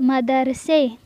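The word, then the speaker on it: مدرسه: مدرسے، مدرسے یعنی مدرسہ۔ تو ایک بات آپ لوگ یہاں پہ نوٹ کر لیں کہ جس بھی چیز کا تلفظ آخر میں الف ہم لوگ اردو میں پڑھ رہے ہوں تو وہاں پہ الف نہیں پڑھا جائے گا بلکہ یہ لگایا جائے گا، یہ کا تلفظ ہوگا۔ جیسے اردو میں ہے مدرسہ لیکن پرشن میں ہم اسے پڑھیں گے مدرسے۔ اسی طرح اگر کسی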